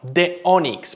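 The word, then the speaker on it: DONX: Ahora, The Onyx, porque así leemos el nombre de la empresa, se escribe D-O-N-X.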